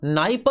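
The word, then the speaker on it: Dnieper: नाइप एंड don river तो निस्टर और नाइप पर में डी साइलेंट होता है ठीक है डेन्यूब नास्टर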